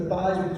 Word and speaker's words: Theismann: We think by just simply changing the pronunciation of your last name from Thiesman to Theismann to rhyme with Heisman, we guarantee you that, Joe.